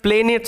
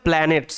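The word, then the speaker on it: planets: stars তারা এন্ড প্ল্যানেটস এটার উচ্চারণটা প্লেনেটস হবে না ভি সিভি রুলস কাজ করবে না এটাতে ঠিক আছে এটা নোট ডাউন করে রাখবে অবশ্যই লিখে রাখবে এটা এটার উচ্চারণ হবে প্ল্যানেটস মানে গ্রহ তাহলে কিসের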